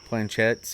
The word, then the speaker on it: planchette: planchettes, or what is that how you pronounce it?